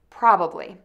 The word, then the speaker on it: probably: Probably. Let's try it. Probably. Probably. Probably. Most people will probably say this word with three syllables, but other people probably say it with two syllables.